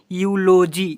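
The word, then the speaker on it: eulogy: यहाँ पर EULOUY, इसे क्या पढ़ेंगे यूलोजी, यूलोजी, ऐसे पढ़ेंगे, ठीक है बच्चों।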